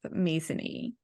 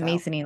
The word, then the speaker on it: Masony: wrong I think it's masony like it is it is masony because I keep wanting to call it Mason and she's no like Sony and she's like no